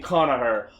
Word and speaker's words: Conchobar: Next Kells, the good kingdom, led by King Connacher, whose name is spelled Conchobar, because that's how those names are.